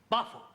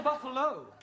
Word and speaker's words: buffalo: a big bull oh Buffalo teril confused yeah words that end you know like Buffalo or radio or vertigal you pronounce the O but when there is no o you don't add one understand yes sir I